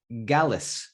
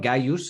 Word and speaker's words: gallus: and that word is gallus. Now you were wondering about the gallus. Can you spell it? Yeah. So think of so it's Gallus. Gallus. Okay, so it's not Gaius, it's Gallus. Gallus.